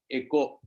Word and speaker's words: eco: Echo. It actually you should pronounce it as echo.